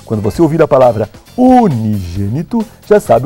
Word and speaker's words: unigênito: É a palavra unigênito.